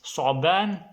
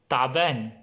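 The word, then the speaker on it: ثعبان: Then the next one is su'ban. Egyptian, they will not say su'ban, they will say ta'ban.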